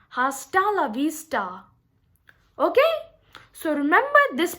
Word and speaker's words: hasta la vista: that sound that's wrong over here we are using the ta sound hasta la vista okay so remember this